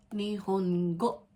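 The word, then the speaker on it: 日本語: Nihongo. Ito, ni, hon, go. Go. Go as in go. Let's go.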